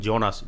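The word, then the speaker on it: Jonas: ஜெர்மனில் யோனாஸ் அப்படின்னு ப்ரொனவுன்ஸ் பண்ணுவாங்க. அந்த கேரக்டர் பேர் வந்து ஜோனாஸ்.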